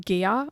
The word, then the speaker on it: Gaia: the healer of um gear or gaia depending how you pronounce it i pronounce it gaia which is earth basically